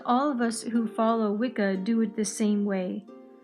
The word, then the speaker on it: Wicca: He writes about Wicca, but the extra C was added in the 1960s. We pronounce it as Wicca. Gardner claims that the name came from Scots English and signified intelligent people. The gods. Wicca honors the divine as